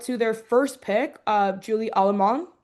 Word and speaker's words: Allemand: And then also shout out to their first pick, Julie Allemand. I believe it's like if you don't think you pronounce the last D in her last name.